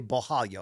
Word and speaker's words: Borralho: times in the broadcast, so I can say Borralho. I don't have to say Borralho every time.